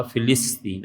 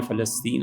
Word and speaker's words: فلسطین: جاتا ہے، فلسطین، فلسطین، اصل تلفظ اس کا فلسطین ہے، فے اور لام کی زیر کے ساتھ، لیکن عوام میں فلسطین ہے، وہ بھی ٹھیک ہے۔ اس پہ صرف باتیں،